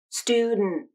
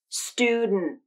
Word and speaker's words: student: the nasal plosion then the tongue stays there as you say the stop t with the vocal cords and the final syllable is a little shorter i'll say it slowly so you can hear the nasal plosion and stop t combination student student a lot